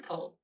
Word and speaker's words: Cole: Okay, so it is Cole. Like C O A L.